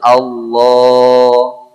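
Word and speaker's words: الله: Ya, bukan Allah itu bukan pakai o, Pak, bukan Allah, o bukan, tapi dia tebal Allah.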